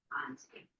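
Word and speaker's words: Conté: Conti is spelled C-O-N-T-E. I'll put it in the chat box. Those of you who are here, C-O-N-T-E. Conti.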